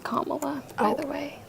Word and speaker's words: Kamala: I watch all of Camilla interviews. Her name is pronounced Kamala, by the way. Like Kamala. Really? Kamala.